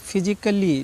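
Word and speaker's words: physically: पी एच वाई सी पी एच वाई एस आई सी A double L वाई फिजिकली ठीक है फिजिकली इसको फिजिकली पढ़ना है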